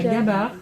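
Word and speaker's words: gabare: développé, ça s'appelle la gabarre. C'est la monnaie locale. C'est une monnaie qui ressemble à ça. Gabar. La gabar. Comme ça s'entend. Comme ça se prononce.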